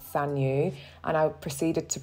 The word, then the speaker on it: Saneux: Please excuse me because Saneux is actually pronounced Saneux, and I proceeded to pronounce it incorrectly for the entire video.